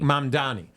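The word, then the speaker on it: Mamdani: the same that uh what's how do you pronounce the New York guy who's running for Mandani? Mandani.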